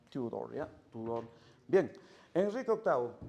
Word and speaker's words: Tudor: Se pronuncia Tudor, Tudor, ¿ya?